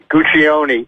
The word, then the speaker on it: Guccione: Now, Guccione or Guccione? What's the proper pronunciation? Guccione, because in Italiano, Okay. every vowel is pronounced. All right. You got it. It's Guccione. I just wanted to make